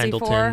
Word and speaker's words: Pendleton: everyone like goes crazy Pendleton, for. Whatever. Yeah, we said it wrong and it went Pendington.